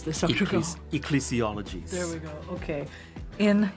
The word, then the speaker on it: ecclesiologies: How do we pronounce this, Dr. Goh? Ecclesiologies.